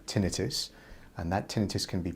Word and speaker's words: tinnitus: ringing in the ear comes from the latin word and it's pronounced tinnitus and that tinnitus can